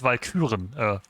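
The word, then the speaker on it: Walküren: In German, it's Valkyren. Valkyries. That's the proper pronunciation and phrasing.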